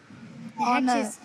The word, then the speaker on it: honour: It's all honour, not honour. Honour. H is silent.